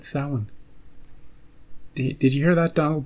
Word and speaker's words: Samhain: The festival of Samhain. Hey, he said it. He said it correctly. He said Samhain. Did you hear that, Donald Pleasance? You and your Sam Hain.